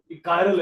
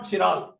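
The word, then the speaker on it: chiral: पड़ेंगे दो बोला तो ठीक करो कायरल है वट इ दिस कायरल इट इ नॉ चिराल ठीक है इंग्लिश इ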